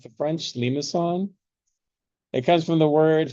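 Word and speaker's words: limaçon: but this is wrong there's a little thing under that c which makes it pronounced like an S so in English we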